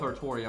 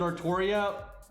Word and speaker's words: Artoria: said so i'm i'm just gonna go with artoria right that's what we've been saying this whole time since before epco that's how they want the name to be pronounced and now if you wanted to like spell it ultra now then pronounce it artoria you know that's just